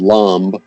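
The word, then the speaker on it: Laamb: I'll just play a little bit of this track that's called Lamb. Okay. Is that how you pronounce it? That's it. And you got it.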